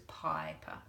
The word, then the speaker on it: piper: When a vowel finishes a syllable, it feels vulnerable, says it's a long sound, that says piper.